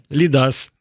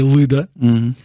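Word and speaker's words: Lyda: Игорь Случак тлумачыць, что Y, вось гэта Y у литовскай читается як И, то бок это Лида, а не Лыда.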